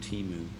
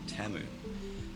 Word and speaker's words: Temu: Now, I don't know about you, but I've been calling it Teimu for years, and then I watched the Super Bowl, and in the ads, they pronounced it Teu.